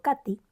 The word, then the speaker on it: Kate: la que me contó mi tía Kate, pronunciado Katy, que vivía en Sibrac, cerca de Don Bobar, en Hungría.